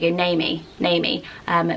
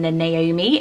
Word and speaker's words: Naomi: She does get people who sort of blend it and go Naomi, rather than the Naomi and pronouncing the O.